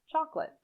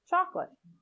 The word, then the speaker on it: chocolate: vegetable vegetable vegetable chocolate in chocolate the second o is not generally pronounced chocolate chocolate finally indifferent the first